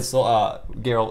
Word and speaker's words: Geralt: Like 5 minutes of Geralt of Rivia in Soul 6. SoulCal 6, just to say I played Geralt of Rivia in the beta, and I literally 5 minutes, just one round. You mean Gerald of Livonia?